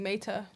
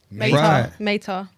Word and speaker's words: Maeta: But you guys, it's supposed to be with the T, Maita. Meta. Meta. They were like just like Meta.